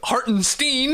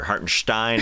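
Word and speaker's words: Hartenstein: teamin is a starter Haren Stein is how you pronounce it but hey that's fine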